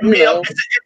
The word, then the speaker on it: Emil: Jeremy Aguirre, Emile Franco, or Diego Romero. So I don't know how to pronounce this name. Emil, he's American, so it's Emil.